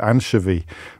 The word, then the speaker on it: anchovy: You had no idea that anchovy was not pronounced like anchor.